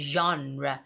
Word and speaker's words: genre: mention the word is genre but this is how you say it genre genre with says Jean of the movie genre genre but anyway